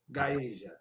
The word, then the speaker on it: Gaeja: he also founded and managed the label company Gaeja. Correct that pronunciation? Did I get it right? That's correct. Okay, Gaeja.